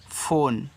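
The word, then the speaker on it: phone: English word है तो English में जब लास्ट में इ आता है तो आप उसका उच्चारण नहीं करते हो तो यहां पे इ का उच्चारण नहीं कहना है केवल एन तक कहना है।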